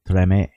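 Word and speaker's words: Tremé: Like Treme? Treme. Treme. I think the accent's on the first syllable.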